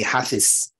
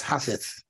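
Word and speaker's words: حافظ: He's a hafiz, but it's hafith, see, in the Arabic language, see, and it's zikr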